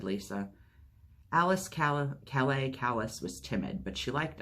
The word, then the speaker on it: Calais: I'm Alice kalis she said but she said callous Calais said Georgina Alice Calais kallus squinted huh you